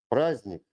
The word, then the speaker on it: праздник: The letter de is silent in complex consonant clusters. For example, праздник, сердце, поздно.